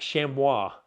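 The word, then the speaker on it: chamois: the list goes on Shamy now it's spelled c h m o i s like shamua uh and I think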